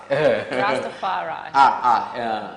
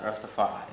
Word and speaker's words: Rastafari: Oh, Seba, pronounce Rastafari the way it's supposed to be pronounced. Rastafari. Rastafari.